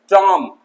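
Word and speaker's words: tomb: टॉम, टॉम्ब नहीं, टॉम, मकबरा।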